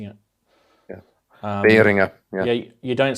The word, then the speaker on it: Behringer: But yeah, it's Behringer, as in like ring, Behringer. It's apparently the correct way of pronouncing it. Yeah, Behringer.